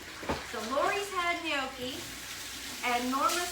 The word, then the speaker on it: gnocchi: gnocchi it is and that's pronounced gnocchi and all right bacon's